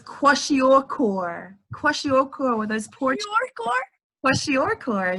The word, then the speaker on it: kwashiorkor: Koryawski. Very close. That's the only way I know how to say it. It was very, very close. Okay. It was kwashiorkor.